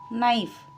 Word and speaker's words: knife: Here, number 1, silent letter is K. Knife, K.